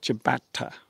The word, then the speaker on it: ciabatta: But obviously in Italian, the C is pronounced as a ch sound. Yes. Like ciabatta, like that special bread.